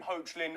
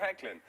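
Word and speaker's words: Hoechlin: we had this didn't we I called him hlin on Monday because hey when you look at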